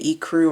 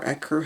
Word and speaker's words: ecru: chocolate brown, and then kind of the ecru or ecru, however you want to say it. I've heard it pronounced both ways.